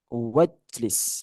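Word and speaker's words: واجلس: Ijlis, wajlis bacanya. Wajlis. Unzur, wanzur. Wanzur. Jadi alifnya nih dianggap tidak ada.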